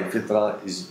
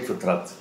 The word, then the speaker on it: fitrat: usually not pronounced, but in Turkish, we pronounce it. I'm sure some other languages also, like in Urdu, Persian, they also pronounce it.